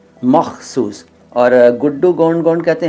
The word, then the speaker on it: मख़सूस: में तुर्की भाषा में मख़सूस किसे कहते हैं तो नदीम अली मख़सूस पहले इसका उच्चारण देखिए मखसूस नहीं होगा आपको लिखना तो ठीक